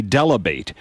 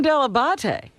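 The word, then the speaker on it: Dell'Abate: tomorrow a young man introducing himself as gary delabate debuting on the howard stern show at wnbc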